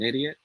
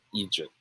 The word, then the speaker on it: idiot: pronounce this word bam it should be pronounced as idiot all right so in this sentence man do i sound like an idiot idiot not egypt okay good good good